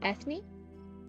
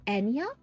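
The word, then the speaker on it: Eithne: Ethne? Ethne? By the way, before you have a stroke, her name is pronounced... Oh, Enya? Oh, Enya.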